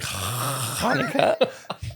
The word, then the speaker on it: Hanukkah: And Max, are you how are you celebrating Hanukkah? Like, thank you for using the correct pronunciation.